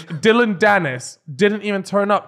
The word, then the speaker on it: Dillon: speak about um dillian is it dillian or Dylan Dylan Dylan no not because you have dillian white yeah but it's not spelled the same right yeah they're two different names aren't they they'll have a look yeah it's definitely Dylan you don't need to chat yeah it's Dylan Dennis didn't even turn